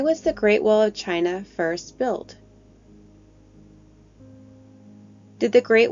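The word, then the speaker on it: Qin: built built because of China's first emperor chin Shai hang D the country of China is actually named after this Emperor whose first name is pronounced chin remember a leader is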